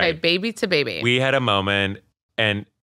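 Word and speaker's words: Baby2Baby: saying itong now you're saying it right okay baby to baby we had a moment and this this weekend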